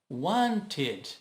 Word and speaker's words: wanted: Want termina com T, acrescenta ED e fica id. Wanted. O E aqui tem que ser pronunciado, lembra?